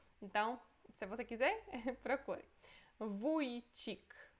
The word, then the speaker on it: Wójcik: É U com crase, mas é como se fosse O com a crase, só que é pronunciado como U, ok? U. Wójcik.